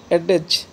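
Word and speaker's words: adage: Next, बहुत अच्छा word है 23, एडेज नाउन है, कहावत या लोकोक्ति, बोला करो एडेज, ADAG, स्पेलिंग याद करना।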